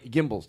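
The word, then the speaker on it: Gimbels: Gimbals.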